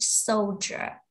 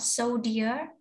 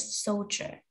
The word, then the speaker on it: soldier: soldier good job soldier this one is pronounced soldier okay not so dear but soldier the next word somebody who